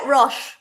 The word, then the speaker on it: Roche: So before we go any further, I want you to, am I pronouncing it right? It is Resin and Roche, isn't it? Yeah, Roche. That's fine. Roche.